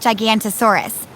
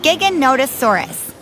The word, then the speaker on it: Giganotosaurus: the next scene this one's name looks like gigantosaurus and actually was one of the largest meat-eating dinosaurs but its name is pronounced giganotosaurus part of what has made giganotosaurus so famous so quickly is that it was